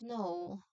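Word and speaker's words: know: So, the K at the beginning of no is silent just like knife, knock, etc.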